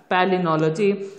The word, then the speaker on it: palynology: Okay, it is pronounced as palynology.